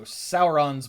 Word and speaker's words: Sauron: we have our two Heroes here uh Frodo sauron's Bane and it's pronounced Sauron Tolkien was very clear about how